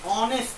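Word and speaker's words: honest: क्योंकि इसकी पहली स्पेलिंग एच तो है, लेकिन उसका साउंड देखो, ए का, ओ का आता है, ऑनेस्ट कहते हैं हम लोग।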